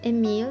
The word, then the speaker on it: Emile: I call him Emile because in French it rhymes. Emile le crocodile.